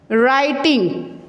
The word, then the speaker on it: writing: ठीक है, व जो है वो इसमें साइलेंट है, इसका साउंड जो होगा वो साइलेंट होगा। इसको हमने राइटिंग नहीं रीड करना है, दिस वर्ड इज राइटिंग।